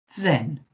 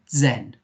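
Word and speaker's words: zehn: version number is das say it for me zen okay zen zen and us is numa 10 good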